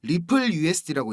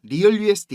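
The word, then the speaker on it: RLUSD: 전망이 됩니다 자 형님들 rl usd 이거 이거 뭐라고 읽어야 된다 그랬죠 리플 usd고 읽는 겁니다 리얼 usd 이거 아닙니다 갈링하우스가 그 암스테르담에서 스테이블코인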